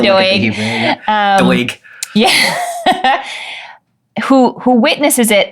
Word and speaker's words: Doeg: a witness to this who I call Doug. I'm sure that's not how you say his name d o e g Doug I like to call him Doug too. I think it's like Doeg or something.